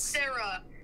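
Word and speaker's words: Sere: to spell it right don't spell it with a h but s e r e wait how how do you spell it it's s e r e s e r e that's Sarah I know it's spelled weird but it's Sarah Oh Sarah this I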